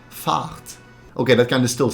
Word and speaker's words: Fahrt: But it's not pronounced as the English word fart. The A sound is actually a bit longer, so it sounds more like fart.